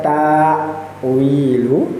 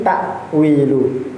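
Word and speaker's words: تأويل: Bukan tawilu, tapi takwilu.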